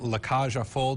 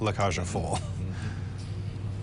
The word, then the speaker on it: La Cage aux Folles: The current production, La Cage aux Folles, did I pronounce that correctly?